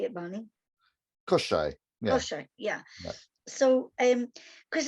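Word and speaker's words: Koschei: Koshai.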